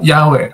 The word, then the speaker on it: Yahweh: di pronciation ywh itu di pronationnya yahwe tadi kan dibilang hafalkannya diucapkannya yahwe Oh ya betul betul